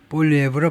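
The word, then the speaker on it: Poilievre: 이거 볼리에브 완전히 프랑스식인데 프랑스식 발음은요알리브 뭐 이렇게 될 겁니다. 그렇게 되는데 보통 이제 잉글리 스피커들은 영어권에 있는 사람들은 가장 일반적으로 발음이 어떻게 되느냐 하면이 사람 발음을 라스트네임을 완전히 프랑스 프랑스의 라스트네임인데 볼에브로 발음한다는 거예요.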